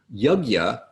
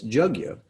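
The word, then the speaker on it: yajña: the word for sacrifice jug you the y is sometimes pronounced with a little bit of a j sound so y and j combined why would sacrifice specifically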